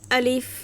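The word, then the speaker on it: ألف: আলিফ আলিফ আচ্ছা এটার নাম হচ্ছে আলিফ কোন টান হবে না আলিফ আলিফ আলিফ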